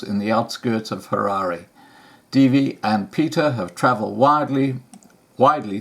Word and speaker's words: Dierve: About the artists: Dierve Holthuizen, wildlife, sea and landscape artist. Dierve, pronounced Dierve Holthuizen, was born in Holland and immigrated to Rhodesia in 1957.